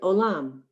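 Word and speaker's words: עולם: Look at the word olam. The first letter is silent on line 2, so that you sound the vowel o, lam.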